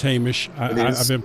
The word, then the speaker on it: Hamish: Um so Hamish uh I know this is your favorite track and it's Hamish. I I've been pronouncing it wrong for two years, but uh that's fine.